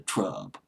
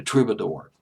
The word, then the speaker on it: Troubadour: I mean, the who's who of pop music had played at the Trub, or the Trube, rather. I don't know why I say Trub. I guess it sounds better, but it's actually pronounced the Troubadour.